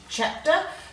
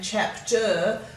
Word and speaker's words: chapter: a schwa like so rather than saying chapter we often say chapter and it makes the